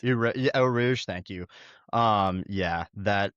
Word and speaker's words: Eau Rouge: Just going flat out on I can never Oh, pronounce it. Rouge. Yeah, Eau Rouge, thank you.